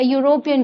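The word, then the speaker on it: European: दूसरा, अ यूरोपियन tourist, a यूरोपियन tourist, a यूरोपियन tourist. अब यूरोपियन, ई देख के आप नहीं लगाओगे यहाँ पे एन, आप साउंड सुनोगे, यूरोपियन, इसमें भी यू का साउंड आ रहा है, तो यहाँ पे ए लगेगा, अ यूरोपियन टूरिस्ट।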